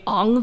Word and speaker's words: Aang: One gripe people had with a live-action movie is that they pronounce his name Ang there. That is actually how you pronounce his name in Mandarin Chinese.